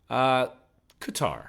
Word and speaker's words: Qatar: Is it Qatar or Qatar? Qatar. Let's say Qatar.